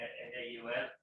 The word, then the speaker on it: Naul: It's Naul, isn't it? Naul. Vinny, is it pronounced Naul? Yeah, N-A-U-L?